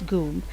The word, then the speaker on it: GUM: football fields the goom we pronounced it as goom department store was built